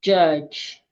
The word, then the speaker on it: judge: to silent d words letter D is very quiet when we have it in front of letter G like in words like judge knowledge the sound of the